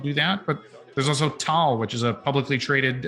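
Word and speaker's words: Taal: blockchain we can do that but there's also tall which is a publicly traded uh canadian company it's spelled uh t-a-a-l they're named after the filipino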